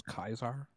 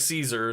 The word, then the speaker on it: Caesar: you know fun fact there is no s sound in Latin so all C's are pronounced as K's good to know also